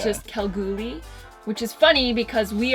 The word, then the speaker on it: Kalgoorlie: is Cal GUI Western Australia look how girly it's spelt how we but it's just quel groovy which is funny because we are from Edmonton